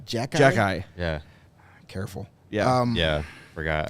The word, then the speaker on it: Xhekaj: pronounced? Jack Jack Guy.